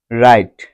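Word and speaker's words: write: উচ্চারণ হয় না যেমন রাইট ডব্লিউ আর আই টি ই রাইট এখানে ডব্লিউ এর পর আর রয়েছে ডব্লিউ এর পর আর থাকায় এখানে ডব্লিউ এর কোন উচ্চারণ হয়নি এখানে রাইট শব্দটিতে আর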